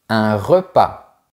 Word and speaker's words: repas: Généralement, on ne prononce pas les lettres finales suivantes. E, une chaise. ES, vos chaises. S, un repas.